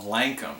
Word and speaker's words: Lankum: of this song was an Irish band called Lankum. I think that's how you pronounce it.